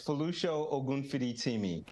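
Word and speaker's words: Folusho Ogunfiditimi: chair of the American Academy of Physician Associates, Folosho Ogunfiditimi. Did I say that right, sir? I'd like you pronounce that for us, for all of us. That's very good. It's Folosho Ogunfiditimi.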